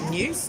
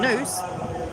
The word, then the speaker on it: noose: tree was a hangman's new news no it wasn't it was a noose uh to rhyme with moose like Canada's national what